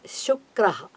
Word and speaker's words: Shukraha: So Shukraha. Shu, the Shivasha, Shukraha. That's a correct word. Please make an attempt to pronounce it properly, Randall.